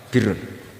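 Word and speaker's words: بِرّ: Ya kalau di isim fa'ilnya umumnya guru-guru kita baca barin, tapi untuk masdarnya, untuk kebaikan bacanya apa? Birun. Nanti kamu protes, oh Barun itu daratan Gus, kalau Birun itu kebaikan.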